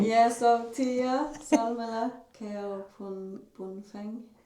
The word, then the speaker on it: Keobuonpheng: Yeah, so Tia, Salmela Keobuonpheng. Keobuonpheng.